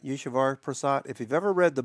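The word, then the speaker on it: Eswar Prasad: Yeshavar Prasad.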